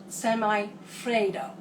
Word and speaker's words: semifreddo: Semifreddo. Have to get the pronunciation right.